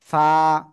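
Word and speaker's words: ف: ফা। নিচের ঠোঁটের পেট উপরে দুই দাঁতের আগার সাথে লাগাবেন, লাগিয়ে এক আলিফ টানিয়া উচ্চারণ করতে হবে। ফা। হালকা বাতাস বের হতে হবে।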